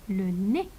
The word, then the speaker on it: nez: Et ici, le EZ final se prononce E. Le EZ final, حرف ال EZ بالأخير حقراه E. Le nez.